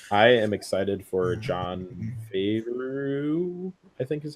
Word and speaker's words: Favreau: I am excited for Jon Favreau, I think is how you pronounce his last Favreau.